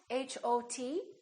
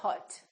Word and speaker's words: hot: example the word hot h o t we don't say Hut we say hot it's pronounced exactly as the a in the words father or army or watch so the O and